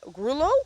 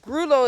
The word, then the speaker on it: grullo: up real pretty he ends up a Grullo or a grulla depends the spelling on the pronunciation changes depending on where you are but grulo is what we say here very very pretty horse